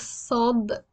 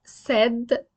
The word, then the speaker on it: ص: The name is Saad with a heavy S, not said. Saad, you will see here that I wrote it with double S because it's not S, it is sa. The sound is sa.